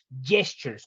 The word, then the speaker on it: gestures: aspecto que son los gestures. Cuidado con la pronunciación de la palabra gestures, no gestures, porque la G de gato no aplica en este caso.